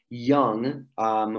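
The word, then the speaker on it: jonge: But there's also young, which is like young spelt with a J.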